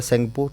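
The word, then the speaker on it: Tsangpo: याद हो रहा है सेंगपो टी फॉर तिब्बत यह याद रहेगा तिब्बत में इसका नाम सेंगपो सेंगपुट में टी साइलेंट है लेकिन एग्जाम में तो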